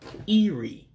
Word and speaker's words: ịrie: So to say eat in Igbo would be ịrie. To eat, Ee-Ree, to eat. And again, remember, I'm not using the actual pronunciation of the letters in Igbo. I'm just gonna keep it in English just to make it simple. But when you're pronouncing the I's, it's always sound like an E in Igbo. That's why I'm saying Ee-Ree for eat.